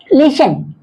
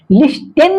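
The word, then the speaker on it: listen: ये T silent होंगे लिसन लिसन लिस्टन नहीं बोलेंगे ये टी साइलेंट होंगे और इसको पढ़ा जाएगा लिसन क्या पढ़ा है विशिल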